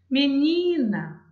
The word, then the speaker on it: menina: Menina. Ó, se eu falar, não percebo. Menina, menina, menina. Vou chamar. Menina. Eu percebo que o ni é a sílaba mais forte também da palavra.